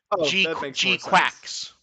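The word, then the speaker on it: GQuuuuuuX: It is pronounced Gquax.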